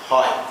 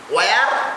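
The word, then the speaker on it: where: করে থাকে, তারা বলে হয়ার। কি বলে? হয়ার। আসলে ব্রিটিশ উচ্চারণে বলা হয় এইচ ইজ not pronounced ওয়েন it comes after W, মানে ডাব্লিউর পর যদি তোমার এইচ থাকে সেটা উচ্চারিত হয় কিভাবে একটু দেখো।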